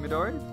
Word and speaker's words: Midori: about to start and it's really hard not to put emphasis on any syllables in Midori or to put even emphasis it's like I always want to put emphasis on the the me or the dough and you're just not supposed to do that just like saki